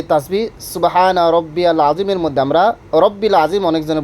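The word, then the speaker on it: سبحان ربي العظيم: সুবহানা রব্বিয়াল আজিম, রব্বিল আজিম পড়বেন না, রব্বিয়াল বারবার পড়তেছি, রব্বিয়াল, দেখেন বারবার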